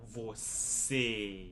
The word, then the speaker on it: você: You're not going to hear that letter E sound like an E sound, você. It's going to be more like você. When you're pronouncing time, you're closing the vowel sound.